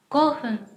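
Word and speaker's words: 五分: Ví dụ 5 phút chúng ta sẽ đọc là go hun, go hun, được chưa nào?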